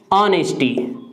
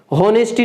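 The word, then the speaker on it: honesty: क्या बोला है इसको, ऑनेस्टी, ऑनेस्टी, होनेस्टी नहीं बोलते पहली चीज तो इसको ये समझ लेना, क्योंकि एच जो लेटर है वो साइलेंट रहता है।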